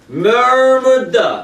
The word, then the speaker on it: murmured: Murmured. Murmured. Слово такое. Murmured. Murmured. Пробормотала. Murmured. Murmured. То есть написано мурмурит. А читается мёрмур.